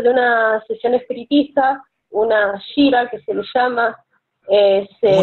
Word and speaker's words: Gira: una sesión espiritista, una shira que se le llama, ¿Cómo se llama? Una shira umbanda, que es una sesión. Shira Umbanda. Se escribe G de gato I-R-A.